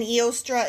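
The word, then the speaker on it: Eostre: An Eostra is capital E O S T R E.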